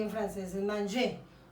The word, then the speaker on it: manger: En espagnol es comer y en francés es manger. Donc, je dis manger. Y pronuncio hasta la E.